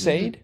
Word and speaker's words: Sade: is it pronounced s is that how it's pronounced Sade okay Sade hit smooth you know as soon as I